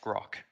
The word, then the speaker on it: Grok: you out with that it's a pronounced grok just like that with a g well there we go